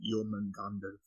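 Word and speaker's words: Jörmungandr: But yeah, the snake itself is Yulmangander with the umlauts, but how you're pronouncing it is without the umlauts. So you're saying it correctly because the umlauts are there, but if you're going to be the Nordic correct pronunciation is Yulmangander.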